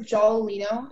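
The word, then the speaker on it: giallolino: Your word is jolalino. Can you repeat the word, please? Jolalino. Can I have all the information, please? Sure. The word is jolalino.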